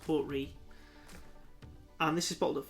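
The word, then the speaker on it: Port Ruighe: I believe it's pronounced Port Ree.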